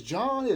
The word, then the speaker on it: Jahn: More specifically, John or excuse me, John is John, Jahn though. The John is Jhn.